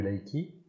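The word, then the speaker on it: Reiki: exemple dans l'enseignement du Laiki si on prononce à la la japonaise, il y a pas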